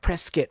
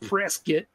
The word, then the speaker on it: Prescott: you prescott they hate they hate when you say scott they're like they're like prescott prescott don't say scott that well it's spelled press scott yeah it's not press get yeah they yeah yeah